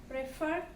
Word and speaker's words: prefer: example prefer means here we have to take give the stress on the second syllable means pray for prefer become preferring begin here